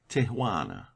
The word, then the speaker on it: Tijuana: There is a pretty little Mexican town on the line between Mexico and California, Tijuana, pronounced Tijuana.